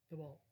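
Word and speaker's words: Thibault: and john the beau now the beau has kind of a french cajun last name it's spelled t h i b a u l t t h i b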